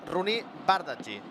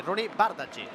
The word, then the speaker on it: Bardghji: Marc Andrés, gran professional, que la pronúncia és Rooney Bardghji. Bueno, més o menys ho estàvem dient bé, No, però més que res el cognom, Per tant, agraïm al Marc aquest cop de mà i, per tant, doncs, segons aquesta informació, que ens en refiem, òbviament, perquè és informació de primera, doncs l'hem de pronunciar així, Rooney Bardghji.